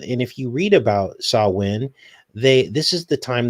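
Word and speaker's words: Samhain: the festival of Sa- Sa- I guess you pronounce it Sam- Sa- Win is how you pronounce it. But it looks like Sam Hain is the way it's spelled. And uh and if you read about Sa- Win, they This is the time that they would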